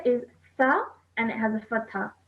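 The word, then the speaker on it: ث: The next letter is tha and it has a fatha. So tha. Ta. Tha. Ta. Okay. Now this letter you pronounce with your tongue touching your top teeth.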